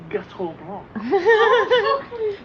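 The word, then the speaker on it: gâteau blanc: Francois Gateau Blanc.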